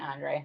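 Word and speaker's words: André: I say Saint Andre.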